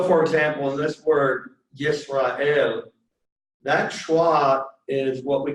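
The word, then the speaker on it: ישראל: So, for example, in this word Yisrael, that schwa is what we call silent. And there's actually only 3 vowels here. It's Yisrael.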